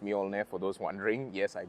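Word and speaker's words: Mjölnir: You see the evolution of the Thor's hammer headlight right here, which is pronounced Mjolnir for those wondering.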